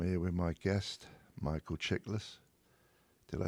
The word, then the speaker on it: Chiklis: And I'm here with my guest, Michael Chiklis. Did I say that right? Chiklis, 2 syllables, Greek name, easy to say. I knew it was Greek. Chick and list, not less.